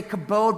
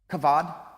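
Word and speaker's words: כבד: words are it's kabo we would say kabode but the Hebrews would pronounce it kebab kavad it's actually translated into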